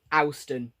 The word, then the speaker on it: Ouston: They're going to run between Newcastle and Ouston. Ouston? You see the river Ouse, so it's got to be Ouston.